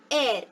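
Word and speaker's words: heir: The first letter in these three words might be H, but while you pronounce these words, you say are, honest, air.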